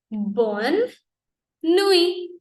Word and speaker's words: bonne nuit: So French is bonne nuit. Again, T is silent, E is silent.